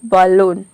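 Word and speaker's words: balloon: बलून में आप देख रहे हैं कि ए के बाद डबल एल आ रहा है, लेकिन हम यहाँ पे ए को अ प्रोनाउंस कर रहे हैं, तभी इसका प्रोनाउंसिएशन हो रहा है बलून।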